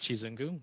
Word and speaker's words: Chizungu: So the first treasurer candidate is Chizungu. I am 100% certain I just pronounced that, and I apologize. Oh, it's okay. It's pronounced Chizungu. You sort of pronounce the U's like double O's.